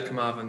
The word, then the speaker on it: Carmarthen: Christian, apologies if I butchered the pronunciation of this. Was it Carmarthen Town that you last won a trophy with? Yeah, Carmarthen, yeah.